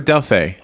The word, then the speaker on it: Delphi: Delphi or Delphi? Well, Delphi, it's pronounced a couple different ways, but you can say Passage at Delphi.